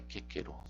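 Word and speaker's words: Cicero: O C é pronunciado como K, independente da vogal que tenha após. Cícero, então, é quequero.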